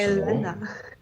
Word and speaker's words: Elena: It doesn't say Yelena. It says. Don't go speaking. How would you read that? Yelena. Tell me the vowels, please. What? Tell me the vowels. Exactly. Stop. U. E. So, Elena. Elena.